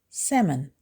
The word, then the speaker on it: salmon: Don't say salmon, say salmon. Salmon. It has 2 syllables and the stress is on the first syllable. I ordered grilled salmon for dinner. The L is silent and you can ignore it completely.